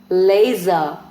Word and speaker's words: laser: Now zo in the middle, razor, blazer, laser, tweezer. Again word laser में s है but उसकी sound z है.